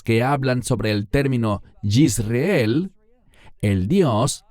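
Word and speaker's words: יזרעאל: Y el Señor le dijo, ponle por nombre, y este es un término muy importante, Yisreel. En español decimos Jezreel. ¿Por qué enfatizo su pronunciación en hebreo?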